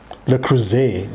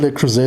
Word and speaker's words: Le Creuset: These are Le Creuset wine glasses. Le Creuset, sorry. The S in Le Creuset is pronounced like a Z.